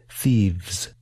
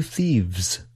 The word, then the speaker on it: thieves: These are both voiced consonant sounds. You should feel your vocal cords move when you pronounce these sounds. Let's work together to improve our pronunciation of thief and thieves.